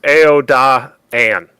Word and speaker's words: Aodhan: It's a 3-syllable name, so it's Aodhan.